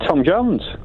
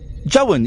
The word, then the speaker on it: Jones: say Jones properly did Tom Jones you're not saying Jo you're saying Tom Jon Tom say again Tom Jones Tom Jones Tom Jones Joon you're saying Jon you make you've made Jones into two syllables Tom Tom Jo oh